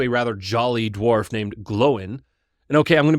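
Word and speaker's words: Glóin: writing that I realized it is not gloin like loin with a G, but it is glowin. There's an accent on the O.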